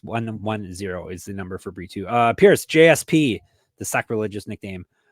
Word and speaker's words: Brito: It's Brito.